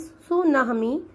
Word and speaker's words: tsunami: अ सुनामी, pronounce सुनामी, इज अ series of